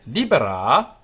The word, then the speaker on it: libera: Sed libera, also a long A on the end, it's a command.